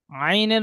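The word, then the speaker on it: ع: আচ্ছা আইনের মাখরাজ বলুন রশিদের ভাই হুজুর আইনের মাখরাজ বলুন আইন আইনের মাখরাজ হবে কন্ঠনালের মাঝখান থেকে উচ্চারণ হয় আইন সুন্দর আইনের সাথে আর কোন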